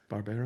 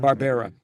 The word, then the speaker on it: Barbera: So, growing up, all the cartoons, Hannah, how do you pronounce it? Barbara. Barbera. Hanna-Barbera, right? So the Barbera.